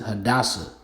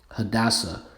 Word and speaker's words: Hadassah: All right, so how do you pronounce it? Hadassah. Hadassah.